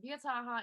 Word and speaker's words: Wojtyła: It's pronounced Wiataha in Polish.